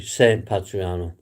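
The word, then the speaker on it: San Patrignano: It's got a G in it, but it's like a silent G. It's um Sim Patriano, we would call it, but it's actually pronounced Sim Patriano. Sorry, San Patriano.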